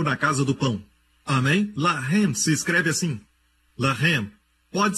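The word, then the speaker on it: לָחַם: Se escreve da mesma maneira. Lamed, Het, Mem. Mesma escrita, a única diferença é a pontuação. Eles colocam os pontos em diferentes lugares. Um é Lehem, o outro é Lahem.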